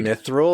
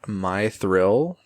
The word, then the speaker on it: Mythril: they literally tell like it's not pronounced my thr so it's definitely not my thr even though it's it's